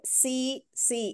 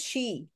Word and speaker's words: she: You say see. It is she.